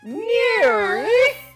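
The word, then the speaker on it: NIRYFP: n i r yfp those are the letters for the name of the show and it's pronounced near I turned princess Bell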